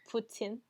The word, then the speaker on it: poutine: is very very delicious but i think it's pronounced putin okay fine miss french